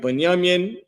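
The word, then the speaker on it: Binyamin: Uh, their name is Banyamian. Banyaminian. That's how you say their name in Hebrew. This is the Hebrew uh form for it. The second one right here, right? Banyamin.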